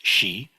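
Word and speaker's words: 時: for time or when or while and it's pronounced she um and so when you this is uh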